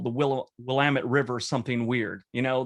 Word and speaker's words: Willamette: someone that's come here and called the willow willamette river something weird you know they call i have a friend called it the willamena river so i will look at places and i'll pronounce things in a weird way and that